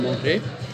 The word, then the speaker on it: manger: pas, par exemple, manger, on ne prononce pas le R de manger, je veux manger.